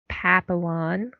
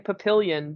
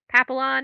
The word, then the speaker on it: papillon: did learn some pronunciation see in my head i was saying papillion but i know that that can't be it yeah there's no i i kept putting an eye in it too and they're just there is